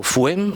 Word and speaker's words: FUHEM: Primero, el currículum ecosocial que ha desarrollado FUEM, la Fundación FUEM, que se escribe con H intercalada, o sea, FUHEM, ¿no?